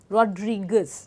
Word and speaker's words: Rodriguez: इसका प्रोनाउंसिएशन है नार्सिसो, नार्सिसो रोड्रिगेज, रोड्रिगेज।